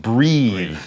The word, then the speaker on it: breathe: Breath is like death, E-A-T-H, but then you put the E on the end, it's Eve, breathe is how you say that, and that would be the verb.